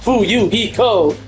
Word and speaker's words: Fuyuhiko: My last name is, and my first name is pronounced Fuyuhiko, and I am a young member, an experienced member of my family's clan.